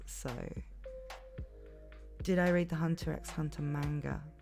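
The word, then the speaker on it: Hunter × Hunter: Did I read the Hunter x Hunter manga? Hunter, sorry. Don't pronounce the X.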